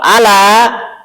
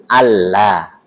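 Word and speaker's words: أَلَّا: Kalau nggak ada tasdidnya maka bacanya ala. Tapi kalau ada tasdidnya bacanya Allah.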